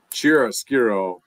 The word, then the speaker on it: chiaroscuro: Which I mean, you're gonna have to help me with the pronunciation again, but chiaroscuro Chiaroscuro.